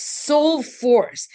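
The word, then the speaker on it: Sol4ce: It's spelled S O L 4C. So it's soul force.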